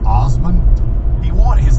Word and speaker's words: Asman: I think his name's Dave Asman, and he wanted He pronounced it Osman. it's spelled ASSMAN, and he wanted the